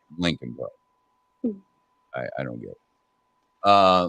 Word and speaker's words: Leakin: e a k i n part but it's pronounced Lincoln I I don't get uh leaking that's I